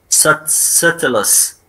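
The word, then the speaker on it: subtilis: ومثال عليها هي الباسيلس ساتلس، ساتلس هاي البي ما تلفظ.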